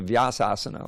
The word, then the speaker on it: Vyasasana: It's called the Vyasasana, although no one pronounces that way. That's how you pronounce it.